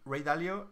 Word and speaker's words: Ray Dalio: se llama rey del dalio entonces y se pronuncia así en el great ray dalio y él aparte de ser exitoso en la